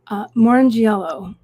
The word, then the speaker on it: Morrongiello: Morrongiello. Right. Yeah, there you go. Oh, yeah. I've had my name butchered, and I get it.